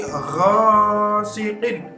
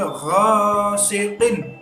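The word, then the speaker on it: غَاسِقٍ: Di sini wa min syarri ghasiqin. Nah, itu dibaca jelas. Siqin idza. Nah, begitu. Jangan wa min syarri ghasiqin. Jangan begitu. Ya, itu salah. Harus jelas karena idhar halqi.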